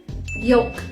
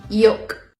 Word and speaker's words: yolk: it salmon almond yolk these words are tricky because they have l when you spell them but you don't actually pronounce it and by the way this is american english salmon almond yolk you're asked how are